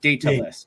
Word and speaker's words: Daedalus: So, data is it Daedalus, like Daedalus, but Daedalus. I always say it wrong, and I just can't. I don't know why, but so think DAE would be pronounced day.